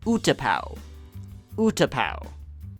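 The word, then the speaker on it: Utapau: have no idea why I thought it was Udo UDA UT uto it's a pretty ridiculous way to read that name for the record I still get hundreds of comments and Corrections on this pronunciation so I'll clarify here this is pronounced utap utap all right let's not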